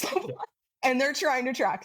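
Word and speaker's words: Slowbotham: It's Yeah, it's Detective Sergeant Bung and Detective Constable Slo I would pronounce it Slotham, but it's Slowbottom. Yeah, because of their accent. It's Slobot.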